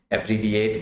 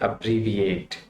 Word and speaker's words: abbreviate: अब्रीविएट first saleable के ऊपर इसका स्ट्रेस है। और उसके बाद जो आगे है रीविएट, अपर पे है, और लास्ट में जो इसकी प्रोनाउंसिएशन है वहाँ पे स्ट्रेस डाउन होता है।